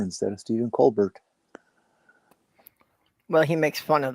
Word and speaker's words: Colbert: had no clue how to do anything but pronounce it with the English. I think it's hilarious that Stephen Colbert became Stephen Colbert just because people started calling